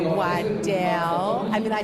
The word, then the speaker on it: Wydell: In the Devil's Rejects, you played most of the scenes with William Forsythe, and he was playing Sheriff Whittle, right?